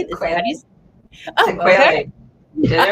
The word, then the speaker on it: sequelae: Sequelae.